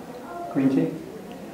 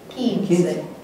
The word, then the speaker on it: quince: Quince. Look at our rule. Q-U, the U is silent. So what's it going to be? Quince.